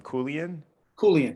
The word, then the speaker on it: Koulian: Koulian, yes, sir.